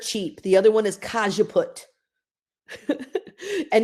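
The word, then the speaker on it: cajeput: naoli is dirt cheap the other one is kajaput and it's also super inexpensive cause you put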